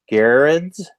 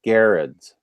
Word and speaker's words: Garrids: Now, Sam is saying that you pronounce Mitch's last name is Garrids. Garrids, is that it? Oh, okay. Yeah, that's how he's saying it, Garrids.